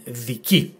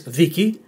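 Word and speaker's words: δίκη: If the tone was on the second syllable, the pronunciation would not have been viki, it would have been viki. Okay? But this is viki, which in Greek means trial.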